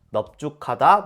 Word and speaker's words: 넓죽하다: 또 예외가 있어요이 두 단어는 그냥 외우는게 좋습니다 넓죽하다 넓둥글다이 두 단어만 또 예외적으로 리을 비읍이라 널다 발음해요 근데 넓죽하다 넓둥글다이 두 단어만 비읍으로 발음하는 거예요 복잡하죠 그럼 정리해 볼까요